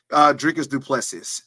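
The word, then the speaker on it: Dricus du Plessis: And then your buddy, Sean Strickland, going against Dricus Plessis. Ain't that how you say it? Dricus Duplessis.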